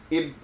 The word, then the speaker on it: Igbo: See, I want to say Ibu. And the G's like silent.